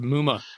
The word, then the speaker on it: Muma: of your middle linebacker Muma is that how you say his name yep Chad Muma yeah that's kind of